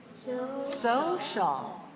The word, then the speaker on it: social: next word is social social social has two syllables where's the stress on the first one right two dash one